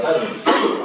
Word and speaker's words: Tanja: Se escribe Tanja, T-A-N-J-A, pero se pronuncia Tania.